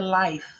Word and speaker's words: life: And the life. Life. Lembre-se que a letra E é muda.